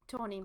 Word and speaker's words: Tawny: And then we also have, I'm so sorry, don't know the ensign name, voiced by Tanny Newsome. Tanny? It's just you trying to pronounce name again. Wait. Tawny.